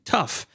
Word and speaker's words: tough: Ah, if if there's no H in the beginning, you have to pronounce them as f like in tough.